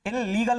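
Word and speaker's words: illegal: देखिए जो शब्द डबल वर्ड से शुरू होते हैं, जैसे आई एल एल ई जी एल, तो इसका जो प्रोनाउंसिएशन है वो इलीगल नहीं होगा, इलीगल होगा, इलीगल एक बार ही बोलना है, इलीगल।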